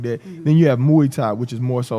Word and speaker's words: Muay Thai: different things that you bring from boxing, from Muay Thai. That's how you say it? Muay Thai.